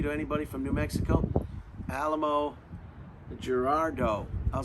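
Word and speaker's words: Alamogordo: tested in New Mexico in a place called Alamo Gerardo. Alamo Gerardo? Does that sound familiar to anybody from New Mexico? Alamo Gerardo.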